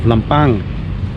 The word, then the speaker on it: Lampang: do around it's a famous ceramic Museum of lampang I'm constantly saying lampang because um that's how